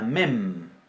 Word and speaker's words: mem: Bien, después tenemos la mem. La mem es una bilabial oclusiva, nasal, sonora. Mem, nuestra M.